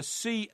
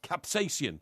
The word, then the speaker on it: capsaicin: you how do you spell that um you spell that uh c-a-p-s-a-i-c-i-n capsai capsaicin capsaicin captain adaptation that's what i said so